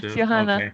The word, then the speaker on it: Johanna: Am I pronounce it your name Yes, Johanna.